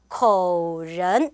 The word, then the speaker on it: 口人: 이때는 어떻게 발음해야 돼요? 口人 이렇게 발음해야 된다.